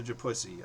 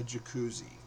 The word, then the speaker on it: Jacuzzi: She says, "I hope the hotel has a japussy." I go, "No, honey. It's called a jacuzzi."